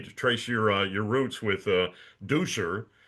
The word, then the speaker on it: Duscher: Nothing about sweeping, everything about Germany and how you had gone back to Germany to trace your roots with Duscher, as it's pronounced in Germany, and you found out